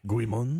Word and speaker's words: Guimond: never say his name, Guimond, Guimond, it's French, so if anyone No, we're out. Jeff, you got anything on it? Guimond. No, there we go. That sounded good.